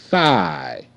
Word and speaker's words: thigh: low on the ground thigh th I thigh thigh GH is silent okay now you see